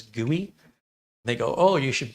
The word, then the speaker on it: GUI: We pronounce that as gooey.